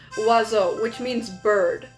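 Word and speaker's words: oiseau: Say I had to pronounce wazo which means bird right?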